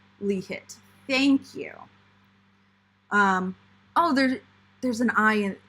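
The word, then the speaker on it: LIHT: too many pouches i way too many um pronounced li hit thank you um oh there's there's an eye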